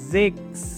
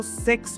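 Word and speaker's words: sechs: अगर आप इसको सेक्स पढ़ोगे तो ये गलत हो जाएगा आपका। जिक्स इज राइट प्रोनाउंसिएशन, ठीक है।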